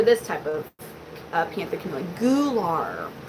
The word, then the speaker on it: gular: Yeah, I know, it's Gular. And I was like, oh, Gular. Good night, Charlene. Gular. Well, it's spelled G-U-L-A-R. So, I don't know. I was like, Gular? Maybe it's because I'm from Missouri.